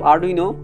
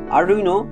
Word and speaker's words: Arduino: আরডুইনো 1002 থেকে 1014 পর্যন্ত ইতালির কিং ছিল। তবে আরডুইনো নামটা ইটালিয়ান, যার শেষে কিন্তু ও নাই, তবে আমরা ইংরেজি সুবিধার্থে আরডুইনো কিন্তু উচ্চারণ করি।